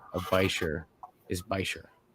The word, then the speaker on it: bichir: It's Bashir, bro. You're letting down Bichir. Canada down. No, it's not. It's Bichir.